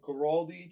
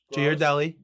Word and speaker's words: Ghirardelli: So I got Giraldi chocolate squares. Ghirardelli.